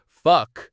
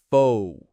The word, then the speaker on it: focus: It's not fuck. It's faux.